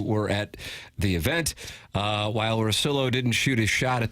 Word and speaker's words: Russillo: Russillo.